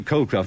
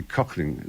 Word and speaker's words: Colclough: Beechy, I called you Colclough, but in fact, perhaps it should be Cochling. Cochling. Cochling. All right. The Irish pronunciation.